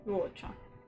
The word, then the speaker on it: Luocha: Okay, we have here, how do you pronounce his name, supposedly? Luocha. There's a rhyme, but it's really just Luocha. Okay, Luocha.